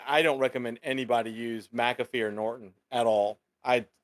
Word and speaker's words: McAfee: spelled but everybody's always said mcafee yeah it's mcafee he's he pronounced his name the story is act like